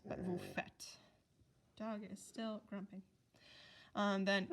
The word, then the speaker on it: faites: Vous is vous faites, F-A-I-T-E-S. It's a lot of silent letters, but vous faites.